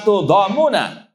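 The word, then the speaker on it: تُضَامُونَ: Kemudian kata-kata la tudhamuna fi ru'yatihi bi dhammit ta tudhamun. Cara membacanya dengan di dhamma ta'nya tudhamu, kemudian takhfifil min, enggak di tasydid tudhamuna.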